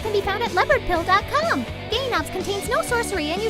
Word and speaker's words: Gaywnobs: weed is totally cool gainobs the w is silent which is short forget